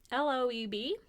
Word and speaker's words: Loeb: So, Nathan Leopold and Richard Loeb, L-O-E-B, Loeb. L-O-E-B? Yeah, I actually didn't look up how to pronounce this. I probably should have. Loeb? Loeb? I'm going with Loeb, like earlobe.